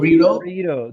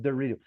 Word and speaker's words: Dorito: They pronounce Dorito. Dorito. That is the blending. When you got the letter T between vowels, they don't say Dorito, but Dorito.